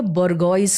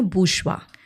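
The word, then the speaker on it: bourgeois: इसको क्या कहेंगे तो सब उसका प्रोनंसिएशन उसका स्पेलिंग से पढ़ते हैं बोरगोइस है ma'am ji ओ आई एस ई बोरगॉइस हुआ तो मैं कहती हूं इसका प्रोनंसिएशन बुषवा क्योंकि वो फ्रेंच ओरिजिन है उस वर्ड का तो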